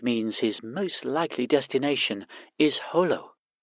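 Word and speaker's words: Jolo: most likely destination is Holo he pronounced it Holo as the locals did once you touch down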